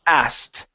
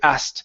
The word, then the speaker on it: asked: not say that okay we typically say asked okay there are other ways of saying the word like a or things like that but we don't necessarily say that all the time most of the time we say asked I asked you a question and that is the fastest way to say this word we skip over the uh the k sound and we go right to the T okay okay okay um